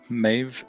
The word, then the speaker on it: Maeve: Pronounced Maeve like Dave.